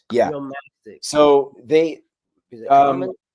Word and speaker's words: Uromastyx: I don't even know how to pronounce it. Heuristics? It's okay. Uromastyx. Yeah. Uromastyx.